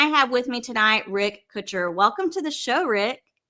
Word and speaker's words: Kutcher: I pronounce I pronounce it Kutcher. You're like Kutcher. Um, think of Ashton Kutcher. I'm his twin brother.